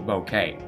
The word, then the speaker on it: bokeh: Right now, let's do some cool bouquet. Bokeh. I actually Googled how to pronounce it. It's bokeh. It's a Japanese term.